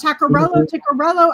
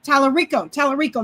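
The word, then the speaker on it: Talarico: Ticcarello. I can't pronounce his name. Tallarico.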